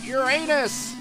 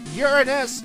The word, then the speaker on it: Uranus: door we are at Uranus H sorry or Uranus if you prefer that pronunciation I don't care all